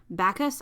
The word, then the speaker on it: Bacchus: series on green jasper and um i'm gonna pronounce this wrong but bacchus i think b-a-c-c-h-u-s on amethyst i love that